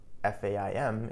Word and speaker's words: faim: Note that faim, F-A-I-M, is pronounced as faim.